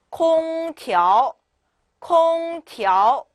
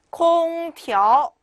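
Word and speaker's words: 空调: 空调 네, 调 같은 경우에는 TRO 모음이 3개가 붙어 있고요. 调 네, 부드럽게 올라가시기만 하면 돼요. 자, 읽어볼까 다시 空调 네, 이렇게 읽어주시면 되시겠죠.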